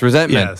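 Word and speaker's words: ressentiment: Petty uh yes yes resentment yes yeah yeah you got to say it like it's French right it's it's a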